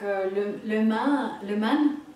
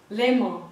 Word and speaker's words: Léman: Et justement, au lac le Man, lac de Genève, il y a tout un groupe qui... mon mari rigole, je prononce mal. Enfin, le lac Léman, voilà.